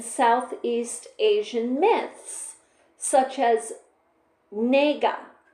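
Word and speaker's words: Naga: Asian myths such as nga. N A GA N A with a long a GA.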